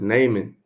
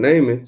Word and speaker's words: Naaman: So this is basically, he got Elisha had helped I believe you pronounce it Naaman.